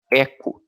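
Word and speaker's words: echo: a p a gente tem um comando chamado Eco aí se escreve eixo mas se fala tá bom a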